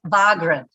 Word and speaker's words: Wargren: Now, let me confirm the pronunciation of your surname. It's Wargren.